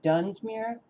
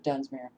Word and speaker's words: Dunsmuir: we may be so the residents of dunsmir if that's the correct pronunciation of the city um